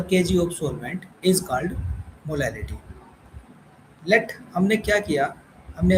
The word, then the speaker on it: molality: मोलैरिटी, अब हम दूसरी कंसंट्रेशन टर्म की बात करते हैं जिसका नाम है मोलैलिटी। ये स्पेलिंग मिस्टेक हो रही है, जिसको हम लिख सकते हैं मोलैलिटी, MOLALITY, मोलैलिटी।